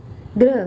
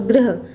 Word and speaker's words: ग्रह: फिर चंद्र आदि, और ग्रह, गृह अगर हो जाए तो गृह मतलब घर होता है। थोड़ा सा उच्चारण में परिवर्तन है, ये इसको उच्चारित करते हैं ग्रह, यानी कि सूर्य चंद्रमा ये सारे ग्रह होते हैं।